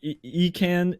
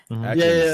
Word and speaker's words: Ekans: It was like Ecan, the Pokemon Econs, like backwards was Snake, and then Arbok was Cobra. Ekans, that's right.